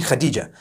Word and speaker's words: Khadija: In Turkish, some people spell it H-A-T-I-C-E. I would say Hatice for that. No, it's actually Khadija.